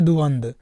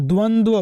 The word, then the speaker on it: द्वंद्व: हम बात करें तो द्वंद बोलते हैं क्या बोलते हैं प्रोनंसिएशन पे ध्यान दीजिएगा उच्चारण पे ध्यान दीजिएगा कि बोलते क्या है तो आप बोलेंगे कि द्वंद्व बोला जाता है द्वंद्व क्या द्वंद्व दोनों में व रहेगा तो द्वंद्व क्या बोलना